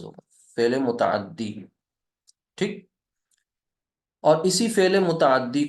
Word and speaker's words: فعل متعدی: فعل متعدی، فعل متعدی، ایسے اس کا تلفظ ہوگا، فعل متعدی.